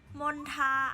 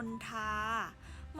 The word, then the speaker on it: มณฑา: ต่อ มา นะ คะ คำ ว่า มณฑา มณฑา อ่าน ว่า ว่า มณฑา มณฑา นะ คะ มี ความ หมาย ก็